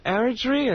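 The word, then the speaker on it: Eritrea: Aritria is what they tell me, right?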